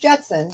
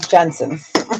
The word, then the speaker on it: Jensen: Not George Jetson. Jensen.